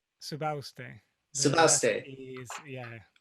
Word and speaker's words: Subauste: Subauste.